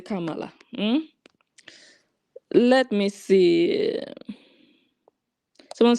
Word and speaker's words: Kamala: But before you go, how do you pronounce Kamala? Kamala.